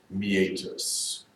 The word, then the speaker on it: meatus: eight Tests I know you want to say meatus me-80 us it is pronounced me ages to be terms you know it meant that